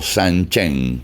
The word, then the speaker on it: Sanchin: de su tiempo practicando sanchin o San Chen como se pronuncia en fuchu junto un montón de